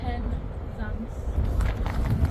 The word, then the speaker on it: Penzance: How do you pronounce it? Penzance.